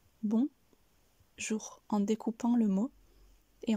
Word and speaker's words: bonjour: donc ici nous avons bon jour je vous conseille également d'insister sur le son r à la fin de jour et n'hésitez pas aussi